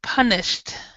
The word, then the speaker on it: punished: with this word um punished punished punished because sh yeah yeah the sh so it sounds more like a t punished punished punished yeah